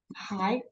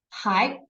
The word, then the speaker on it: 还: So the pinyin here is 还. The second tone, 还.